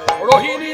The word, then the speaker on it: রোহিণী: বলায় রহিন্দ তুমি ব্রজের না ভুল বুঝবেন না ভুল করবেন না রোহিণ নয় রহিণ উচ্চারণ হবে রোহিণী রোহিণী নন্দন তুমি ব্রজের বলায়